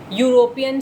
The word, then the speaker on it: European: But when you speak this word, you, the word you in English, how do you speak? Y-O-U. Isn't it? And is the alphabet Y a vowel? No. It is a consonant. So if you see any